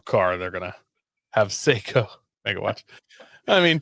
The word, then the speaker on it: Seiko: I think it's Seiko, like the Seiko? watch.